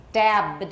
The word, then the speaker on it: dabbed: And dabbed, it's not a D here, it's not a T or a D, so we don't add an extra syllable.